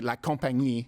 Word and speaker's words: La Compagnie: chartered with the company La Compagnie? I'm saying it now the French way.